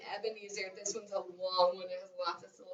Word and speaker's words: Ebenezer: Ebenezer. Okay, you do it. I'm gonna count it. Ready? Ebenezer. Wow! How many syllables are you saying? 4 syllables in his name, Ebenezer.